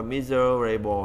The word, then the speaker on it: miserable: Miserable ở đây mình đã làm, nếu mà lúc nghĩa mình đọc là miserable ha, nó có một cái âm tiết nữa nhưng mà âm tiết này thường bỏ qua, miserable ha, các bạn chưa.